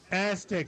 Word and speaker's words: Aztex: Aztec.